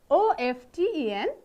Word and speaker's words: often: O-F-T-E-N, often.